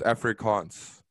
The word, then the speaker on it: Afrikaans: language um it's uh it's spelled a f r i k double a n s so it's like every almost like africa but it's africans oh like two a's did